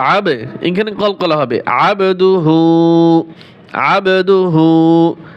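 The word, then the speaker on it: عَبْدُهُ: এখানে কল করলা হবে আবদুহু আবদুহু আইন বা জবর আব কলকলা করবেন আবদুহু ওয়া রাসুলুহ ওয়া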